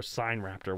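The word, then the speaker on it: Sinraptor: Actually, no, it's not, because we've done my favorite dinosaur on the show, Sign Raptor, which is, it means Chinese thief. It's spelled Sin Raptor.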